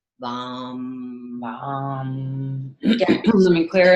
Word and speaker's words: Vam: It's enunciating every one of those 3 letters and syllables. So it's Vam. Vam. Making sure your V and your A and your M.